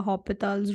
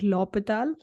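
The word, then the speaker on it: L'Hôpital: petals yeah you know some people try to uh pronounce it like L uh hopital's rule whatever that so whatever way you are comfortable pronouncing it so I you know usually uh say it like lopital so we'll understand the law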